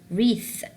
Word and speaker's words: wreath: No, I will say wrong because W here is silent. What about here? Wreath, wreath, wreath.